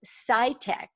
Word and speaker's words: PsyTech: owners and founders of PsyTech, that's spelled PSY-TEK.